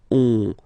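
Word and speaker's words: onze: then 11, 11, okay, so O plus N give you the sound on, 11, 11, okay, final E doesn't exist phonetically, 11, okay, 12, 12.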